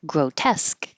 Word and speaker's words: grotesque: just like ma'am and grotesque this is a good example of whenever you see this ending e SQ e it's esque and it's stressed so grotesque that's it I'll do